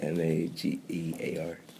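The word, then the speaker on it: Mager: Hello, my name is Magear, spelled M-A-G-E-R, not M-A-G-E-A-R. Pronounced Magear.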